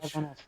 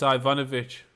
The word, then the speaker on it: Ivanovich: Ivanov. Ivan. No it's not. It's Ivanovich. Is it? Oh. Oh no it's not. It's Isa Ivanovich.